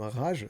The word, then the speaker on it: Rage: dans mon retour sur Rage de Stephen King que je prononce à l'américaine, hein, parce que si rage, moi ça m'évoque une rage dedans et c'est pas le sujet.